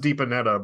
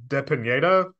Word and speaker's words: Depineda: in the Box here it's pronounced deepanetta but at some point it was uh de Pineda Spanish or Mexican or